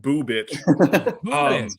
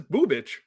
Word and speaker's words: Bubich: And yes, Eric, his last name is pronounced Bubich. That really that's what perked my ears. Yeah, I knew it did, and I wanted you to understand that you didn't mishear me. It is Bubich.